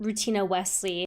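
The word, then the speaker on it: Rutina Wesley: love who plays Maria I believe her name is pronounced routina Wesley the first time I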